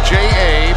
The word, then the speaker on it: Ja: Ja Morant, first name is J-A, pronounced Ja.